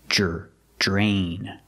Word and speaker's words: drain: draining the pasta pronunciation we see Dr together makes the JJ sound like jump and juice J plus the r j drain other things you can